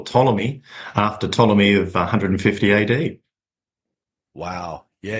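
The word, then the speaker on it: Ptolemy: And it was spelled with a silent P at the front of it. So I I dropped the silent P and I said, "Right, well that's perfect.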